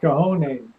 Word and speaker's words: cojones: Babushka says it's cojones. It's pronounced cojones.